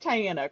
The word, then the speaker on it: Tianna: So, definitely uh reach out to Tyiana for posing and it is pronounced Tyiana, correct?